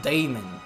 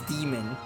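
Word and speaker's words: Daemon: struck down a mighty Damon I gu guess it's not Damon it's demon it's the same way the a is just not pronounced will threaten the world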